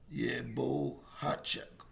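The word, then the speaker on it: Bohachuk: I'm sorry if I pronounced his name wrong. Bohacek. That's what it is.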